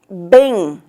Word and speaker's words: bem: Esse E, ele é nasal. Então, quando o E é nasal, a gente coloca um tio.